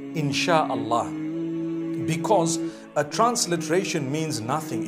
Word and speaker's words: Insha'Allah: They pronounce it, they pronounce the S-Y the way we pronounce S-H. So they can write it how they want, for as long as when people read it, they read it Insha'Allah.